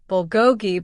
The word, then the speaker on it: bulgogi: It's pronounced bulgogi bulgogi.